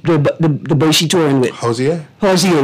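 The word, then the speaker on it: Hozier: Hosier, right? I just want to make sure I could say it properly. Because I call it Hosier, right?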